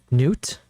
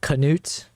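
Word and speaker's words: Knut: Uh, the K is a bit different. I have no idea how how to explain the difference, but English speakers who have the name, I think, say it like you do. Okay. Wait, so you're saying a a a normal a local Scandinavian would say noot instead of canoot?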